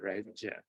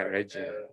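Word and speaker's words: Regge: Oh, I think it's pronounced Reggie. Reggie. Oh, you can it's a soft G. Yeah, Reggie.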